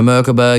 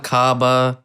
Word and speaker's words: Merkaba: Merkaba. That's how you say it. Merkaba for everyone at home. Merkaba. Not Makaba. What other pronunciations do you get?